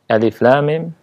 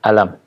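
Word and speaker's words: الم: disebut dengan huruf-huruf muqaththa'ah alif.lam.mim cara membacanya dengan menyebutkan huruf-hurufnya tidak dibaca dengan alam tapi Adif kemudian RAM dan Mim Hai tentang al-islam ingini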